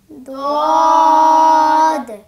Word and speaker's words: ضاد: সম্মানিত দর্শক, আপনারাও আপনাদের উচ্চারণ ঠিক করার জন্য আপনাদের জিহ্বাকে স্বাভাবিক অবস্থায় রেখে ভিতরের দিকে নেন, আরও নেন, মুখটা বন্ধ রাখেন। এই অবস্থায় 3 বার উচ্চারণ করুন। সবাই একসাথে পড়ুন ضاد ضاد ضاد মাশাআল্লাহ, অনেক সুন্দর হয়েছে।